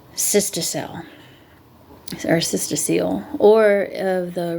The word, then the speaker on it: cystocele: Uterine prolapse can be accompanied by prolapse of the bladder and anterior vaginal wall called cystocele.